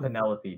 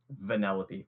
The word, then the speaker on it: Vanellope: It's not Penelope, dude. Vanellope, please.